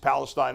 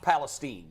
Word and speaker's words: Palestine: rural town of East Palestine, Ohio, which is what? It's actually pronounced Palestine.